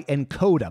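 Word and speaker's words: nKoda: lucky this episode is brought to you by encoder by the way that's spelled NK o da this app is like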